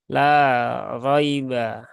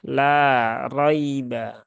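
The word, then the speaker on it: لَا رَيْبَ: Di la roiba di sini ada ya sukun setelah harokat fathah. Nah, maka ini adalah masuk huruf lin ya. Harfulin ya, yang mana dia punya sifat lin juga. Nah, maka dia halus, maka ya haluskan.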